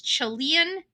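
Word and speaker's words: Chelan: Now, this I may be spel pronunciating this county incorrectly, but it's Chilean County, C H E L A county, and that's in Washington State.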